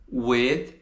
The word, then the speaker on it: with: A gente pronuncia we, coloca a língua entre os dentes e dá uma leve assoprada. With.